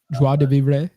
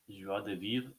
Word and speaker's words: joie de vivre: I don't know, but how do you pronounce it? Joie de vivre. Joie de vivre, something like that.